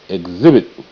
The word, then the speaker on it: exhibit: Exhibit.